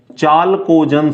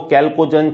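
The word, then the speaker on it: chalcogen: ठीक है, वर्ग संख्या 16 क्या बोलते हैं इसको, चालकोजन समूह। ठीक है, कई जगह आपको कैल्कोजन भी मिल जाएगा, स्पेलिंग CH से स्टार्ट होती है, तो कहीं आपको कैल्कोजन चालकोजन मिल जाएगा, स्पेलिंग CH से स्टार्ट होगी।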